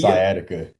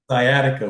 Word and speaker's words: sciatica: How you pronounce it? Sciatica. Sciatica, which is like nerve damage to your lower back, but apparently he's good.